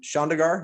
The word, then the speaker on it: Chandigarh: So you were born and raised in Chandigarh. I pronounced that properly, India? Yeah, you did it well.